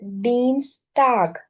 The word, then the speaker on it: Dienstag: Next for Tuesday it is, because IE pronounced as E, so it is Dienstag.